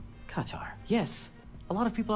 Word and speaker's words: Qatar: Our RT Arabic correspondent Ahmed Al-Hazim said the correct pronunciation is Qatar. Qatar, not cutter, not Qatar, but Qatar. Accent syllable as in cutting the tar.